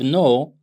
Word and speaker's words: know: let's say the verb no okay the verb no the verb I said the verb k n o w starts with k but it's K is silent so this is why